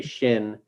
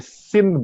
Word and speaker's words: Shin: So we just say Shin Buddhism, like Zen Buddhism, very easy to understand. Shin Buddhism, also easy to say. Yes, Shin Buddhism. If you mispronounce, it's going to be a Sin Buddhism.